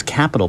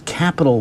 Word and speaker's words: Capitol: Note that it is Capitol with an O. It's not spelled with an A, rather it's spelled with an O. It sounds the same, but the spelling difference has a certain significance, right?